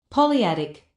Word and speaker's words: polyadic: polyadic Let's see how it is pronounced. polyadic Yeah, greatest of least stop and all other relation expressed by super relatives are polyadic.